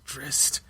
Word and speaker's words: Drizzt: scared by him and calls him a Drizzt, and he's like, my name's Drizzt. And like we're like, oh, so like the writer's trying to tell the people how to say the character name.